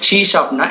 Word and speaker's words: C#: ஷீ ஷாப்னா என்னன்னு சொல்லிட்டு பார்க்கலாம். ஷீ ஆஸ்டிக்கை வந்து எப்படி ப்ரொனவுன்ஸ் பண்ணுவாங்கன்னா ஷீ ஷாப்னு ப்ரொனவுன்ஸ் பண்ணுவாங்க. ஷீ ஷாப்புங்கிறது object oriented programming language.